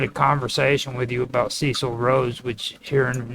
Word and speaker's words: Cecil: Now, his name is pronounced Cecil, not Cecil.